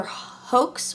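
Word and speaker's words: Haux: I don't know how to pronounce it. It's H-A-U-X, so it's either hoax or ho. You know, the UX would be silent.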